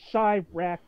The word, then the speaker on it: Chirac: C-H-I as in Chi-Town. I know it's not spelled that way, but it's followed by R-A-Q, and I just... Chirac like chai, the T, and Iraq. Chirac. No, like, it's spelled like Iraq, but with a C-H in front of it.